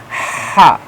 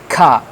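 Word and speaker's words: ح: Mostly the kids of USA, UK, they read like ka, ka. That is wrong. It has special voice pronunciation like ha, ha.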